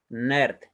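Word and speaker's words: נרד: Y de la dalet, debajo de la resh y de la dalet, esos dos shebot no van a sonar vocal, ¿ya? Por lo tanto, vamos a pronunciar nerd, ¿ya?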